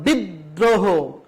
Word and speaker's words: বিদ্রোহ: যেমন বিদ্রোহ, এই যে দয়ের সাথে একটা রফলা রয়েছে সেই জন্য দ বর্ণটা 2 বার উচ্চারণ করা হয়েছে।